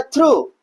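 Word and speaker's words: through: इधर हमारा है थ्रू। टी एच आर ओ यू। बस इतना बोल के चुप हो जाते हैं। जी एच को कहां गायब कर देते हैं?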